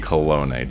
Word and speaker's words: Kolone: Kolone.